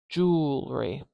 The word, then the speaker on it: jewelry: this jewelry jewelry jewelry and then suddenly we have three syllables here because we have three vowel sounds here I've only got two jewelry jewelry jewelry jewelry